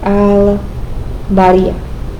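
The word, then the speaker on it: البارئ: sure it's something like al-bariya. It kind of has like an at the end. Al-bariya. Again, because it's a moon letter, we're using ba, we're using our lips to pronounce bari.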